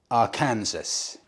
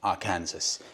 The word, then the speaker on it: Arkansas: With regards to me pronouncing Arkansas, well, that's wrong, Arkansas.